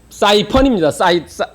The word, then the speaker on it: python: 그런데 이 퓨돈을 영어로 얘기한 python인데 이것을 다른 얘기로 영어식으로 발음하면 사이펀입니다.